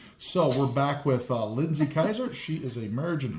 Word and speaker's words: Keiser: uh uh twice mastered degreed um uh Lindsay Kaiser. Is that how you pronounce it?